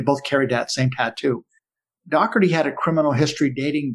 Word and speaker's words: Dougherty: we have joseph william dougherty he pronounced his name dougherty and spelled d-o-u-g-h-e-r-t-y in prison he was known as doc well while we were investigating this case most of us pronounced it doherty so forgive me today